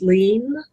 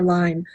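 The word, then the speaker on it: Lien: that Jennifer I think her last name is pronounced lean I'm not sure if it's pronounced lean or line lean okay Jennifer lean's personal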